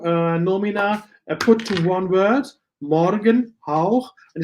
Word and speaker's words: Morgenhauch: You have two nomina put to one word, Morgenhauch, and it's Morgenhauch. So you have the stress syllable on the first, not Morgenhauch, it's Morgenhauch, only one stress syllable.